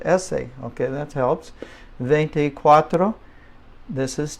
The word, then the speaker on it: ese: and that's a well just think of the word essay in English essay okay that helps this